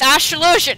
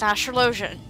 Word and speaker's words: Astrologian: It's Astrolosian. He said it right there. It's not Astrolosian, it's not Astrolosian, it's Astrolosian.